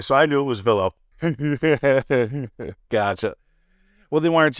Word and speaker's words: Vilo: How do you pronounce it? What's the proper way? So I knew it was Velo.